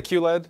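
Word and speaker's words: QLED: yes difference between OLED is it Q letter Q LED what's the right way to say that we say Q LED okay yeah so OLED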